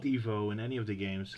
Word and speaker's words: Ivo: the way they pronounce ivo's name is fan service because uh it the name is supposed to be pronounced Evo because like that is a real name but the old cartoons always called it Ivo